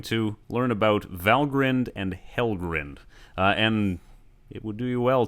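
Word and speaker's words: Helgrind: learn about valgrind and helgren and it would do well to pronounce them correctly the endings are pronounced grinned and not grind where do they take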